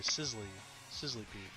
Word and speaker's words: Sizzlipede: Sizzlepede.